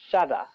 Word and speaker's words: shadda: Arabic alphabet is called Shada. The alphabet with Shada is joined with the former alphabet and will be pronounced twice like the letters S in dissolve.